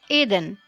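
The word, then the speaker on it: еден: Here are all 10 numbers with the pronunciation. Eden, which means 1.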